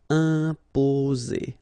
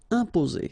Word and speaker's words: imposer: So it will go like un, imposer, imposer. Okay, only one S between the two vowels, so it's the sound Z, imposer.